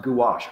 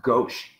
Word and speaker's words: gouache: So the style that I thought was more like cutouts, these are apparently watercolors, or gouache, which I only just learned is pronounced gouache. I thought it was pronounced gauche.